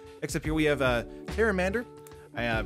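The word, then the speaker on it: Pteramander: here we have a harem and ER I pronounced it with a the P last time where's like Patera manor but I think if the P is silent like pterodactyl the one mana one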